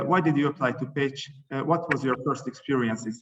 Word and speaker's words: Pécs: recommended at this moment i did not even know that the pronunciation was page so when i saw